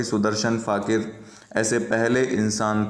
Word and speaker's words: फ़ाकिर: Song है, वो सुदर्शन फ़ाकिर द्वारा लिखा गया है। यहाँ फ़कीर लिख दिया गया है, लेकिन इसका उच्चारण फ़ाकिर करें।